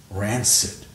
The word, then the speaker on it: rancid: that's all noun adjective hard C Soft C rancor rancid wow you see I